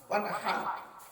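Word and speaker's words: وَانْحَرْ: ওয়ানহার, এই গলার ভিতর থেকে হাইটা উচ্চারণ করবেন। ওয়ানহার, হাই হুতি, হাই হাওয়াজ নয়।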